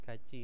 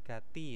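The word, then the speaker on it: 같이: Gachi ini bacanya bukan Gati ya, ya Robun, hati-hati. Ini karena apa? Ada hukum bacaannya juga. Ketika diet bertemu dengan iyeng, dia dietnya ini akan berubah menjadi C ya, jiet terus ada titiknya di atas dulu maksudnya.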